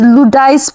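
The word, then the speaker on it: Luodais: This is Ludais product. I don't know if I'm pronouncing it well. l u o d a i s.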